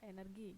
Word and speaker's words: energi: Indonesia ya Nah dan Kebanyakan orang itu suka baca energi padahal energi g itu bahasa Inggris kalau kita di dalam bahasa Indonesia konteksnya kita membacanya ya energi g dibaca G bukan J nah di artikel ini